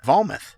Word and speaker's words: Vometh: It's pronounced Vometh.